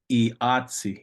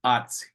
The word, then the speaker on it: iatsi: Or iatsi is my uncle, iatsi, my mom's brother, iatsi, iatsi. Sometimes that E is completely dropped off and it just sounds like atsi, atsi.